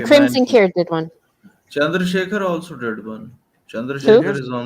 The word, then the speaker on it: Chandrasekhar: It is pronounced as Chandrasekhar. Okay.